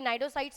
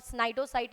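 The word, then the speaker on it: cnidocyte: Question number 15 cyano cyano sorry नाइडोसाइट्स are found in flat form round worms, cnidarians या फिर स्पोंजीस। तो यहां पे आप नाम को देख के ही समझ सकते हो कि भाई नाइडोसाइट्स पूछा है तो ये निडेरियंस में ही पाया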